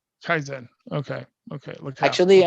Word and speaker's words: kaizen: And how you say you pronounce it? Kaizen? Kaizen. Kaizen.